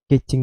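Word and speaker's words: Keqing: Kecing wangi-wangi. Panggilnya Kecing sih ya, Kecing. Cuma orang ininya panggilnya Keking. Maksudnya kan Kecing. Kecing ya. Kalau di pronounce di bahasa Mandarin itu Kecing. Cuma orang bilangnya ya Keking.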